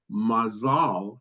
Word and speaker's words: mazal: incorporated into modern Hebrew the Yiddish and ashkenazic pronunciation of mael has the stress on the first syllable while the modern Hebrew word mazal has the stress on the last syllable mazeltov is also used